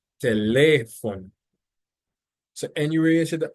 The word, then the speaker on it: teléfono: But it is not pronounced like that because the accent is actually over the second E in the word. So it's not telephone, but it's teléfono.